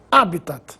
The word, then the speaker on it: habitat: assim como habias Corpus habitat é uma palavra Latina por isso não recebe acento gráfico mas se pronuncia como se fosse proparoxitona habitat ibero ibero é assim